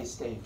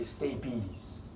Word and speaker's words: stapes: things called stinky stabies spelled stapes don't say stapes say stay peace one of those weird